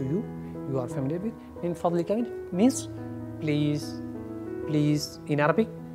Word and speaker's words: من فضلك: You are familiar with min fadlika means please, please in Arabic.